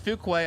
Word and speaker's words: Fuqua: left-hand Lane that is Mike Fuqua or is it Fuquay I keep hearing two different pronunciations of it it is Fuquay I've been wrong my entire life Mike fukway 453.